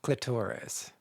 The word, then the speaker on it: clitoris: follow-up question here is am I pronouncing clitoris wrong should I be saying cliturus oh I think I think it's either way or is that an American thing I think I pronounce it both ways I think it just